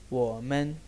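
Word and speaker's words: 我们: इस्तेमाल होता है और ये ऐसे प्रोनाउंस होता है वो मैन वो मैन वो मैन।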